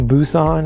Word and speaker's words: Busan: If you're not familiar with this movie, this is the sequel to The Train to Busan, is how you say that.